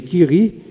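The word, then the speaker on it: Curie: Em francês, eh, a pronúncia seria Kiri, mas pro português gerou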